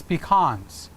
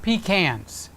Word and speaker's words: pecan: It's pecans. It's not pecans.